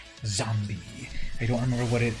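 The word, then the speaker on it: Xombi: There is a comic book, I believe, named Zombie, but with an X. So X-O-M-B. Oh, and it's spelled X-O-M-B-I. Zombie.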